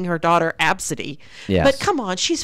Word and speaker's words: Abcde: it her name is spelled ABCDE in it's pronounced AB City and so the the apparently the the ticket